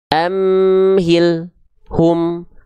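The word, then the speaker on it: أَمْهِلْهُمْ: Lam sukun tidak boleh dibaca dengan terputus pelafalannya. Contoh, amhil, hum, antara l dengan hu gak boleh ada jeda hening. Amhil, hum. Kalau itu terjadi, tandanya teman-teman keliru lamnya.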